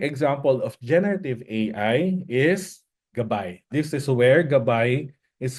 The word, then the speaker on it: GabAI: Usually, people would call it at the first as GabAI. We're pronouncing it as a GabAI, which is the Filipino word for guide.